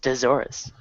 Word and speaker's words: Deathsaurus: It's pronounced Desaurus.